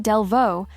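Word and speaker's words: Delvaux: Delvo, pronounced Delvo, was founded in 1,829 in Belgium, even before the country officially existed.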